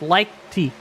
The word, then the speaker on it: Leichty: Yeah, you kind of pronounce the CT, but you kind of don't. So it's Leichty. So you kind of get some guttural movement back there.